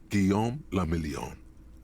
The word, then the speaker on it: Guillaume la Million: Guillaume la Million. If it doesn't rhyme, you're not pronouncing it right.